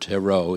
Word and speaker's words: tarot: a t at the end of the word Tero even though it's not pronounced okay but originally those were Hebrew letters